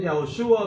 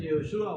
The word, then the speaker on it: Yehoshua: Unos dicen Yahoshua, otros dicen Yehoshua, ok.